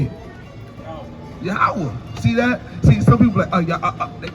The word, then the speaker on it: Yahweh: Like when you say Yah, Ha, Wah, it's just that easy. It's just naturally. Like how you can say it like Yahweh. Say it. Yahweh.